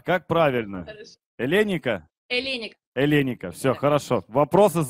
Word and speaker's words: Эленика: Эленика, нас слышно хорошо? Я правильно ударение ставлю? Хорошо, что спросили. Нет, неправильно. Я вечером на горохе отстаю полчаса. А как правильно? Хорошо. Эленика? Эленика.